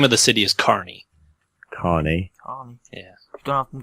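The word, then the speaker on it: Kearney: the the the name of the city is Carney Carney yeah don't have them to have a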